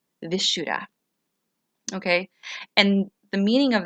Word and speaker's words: Vishuddha: chakra, also known as Vishuddha. If I mispronounce that, I apologize, but I'm saying it the way it looks. Vishuddha.